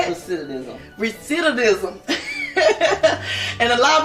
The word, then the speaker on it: recidivism: Recidivism.